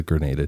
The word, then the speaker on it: Grenada: like, "Oh, it's the the how do you pronounce it? The G Graada Ga Treaty. I've missed an NS. It's the Grenada Treaty."